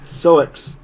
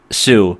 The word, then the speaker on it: Sioux: What city? Soix. No, it's Sioux. That's Native American.